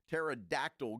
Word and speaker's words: pterodactyl: you hear a uh pterodactyl go to the bathroom the p is silent that's a good one